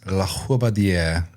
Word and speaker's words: LaRobardiere: I keep wanting to throw the LaRobardiere. I'm throwing the emphasis on the wrong syllable. The syllable, yeah. Yeah, it's pretty phonetic, but it's long, so it becomes really intimidating. I think the French say it like this: LaRobardiere.